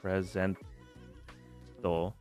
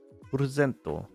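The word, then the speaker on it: プレゼント: Presento. And I usually when it ends in O, you kind of just combo it in as like a long O sound.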